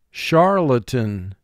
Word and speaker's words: charlatan: This is a three-syllable word, and you pronounce it for spelling Char-lay-tan. Char has two sounds. Sh. R. Lay, two sounds. L. A. Tan, three sounds.